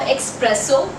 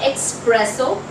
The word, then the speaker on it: espresso: Could you please get me a cup of espresso? Now it is not espresso, it is espresso.